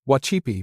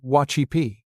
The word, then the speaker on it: wacípi: In the Ponca language, the word for dance is wacípi — pronounced roughly wah-CHEE-pee.